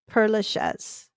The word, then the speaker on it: Père Lachaise: Père or is it Père Lachaise? Père Lachaise. Yeah, there we go. Now I got it right.